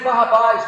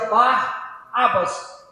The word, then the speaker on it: Barrabás: E nós lemos Barrabáis, mas no aramaico se pronuncia bar abas, que significa filho do pai.